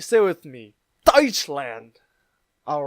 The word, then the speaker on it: Deutschland: this is how you say German in Germany's died slant Deutschland all right stay with me touch land all right and this word right here is